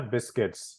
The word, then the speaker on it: biscuits: a class for that the U was silent yeah biscuits is how you pronounce